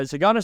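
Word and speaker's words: DeSagana: pronounce it thank you you don't even pronounce the d okay shagonna shop okay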